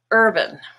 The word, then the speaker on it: urban: Now in the word urban, herb is purple, the stressed part, and ban becomes bun, urban. Here are some other examples.